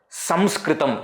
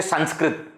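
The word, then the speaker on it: Saṃskṛtam: Samskritam. You don't say Sanskrit. The word Sanskrit itself, Sanskrit. Why ma? Because Anusvara is to be pronounced as ma.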